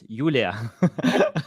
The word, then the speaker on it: Julia: Yeah, it's interesting that I pronounce Julia, but originally it's Julia. you know, Yes. Yeah, because of this habit, to speak with American speakers, and they usually use Julia.